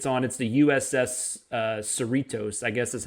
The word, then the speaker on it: Cerritos: It's the USS Cerritos, I guess is how you pronounce that. It's Cerritos, and it's not like it's not a big ship in the fleet.